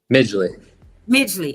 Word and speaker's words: Midgley: Pronounce it. It's Midgley, right? Midgley.